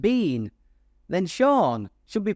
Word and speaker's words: Sean: should be pronounced seen so his name should be seen Bean or sha BN but instead it is sha Bean two entirely different pronunciations that have almost the same spelling mading for people trying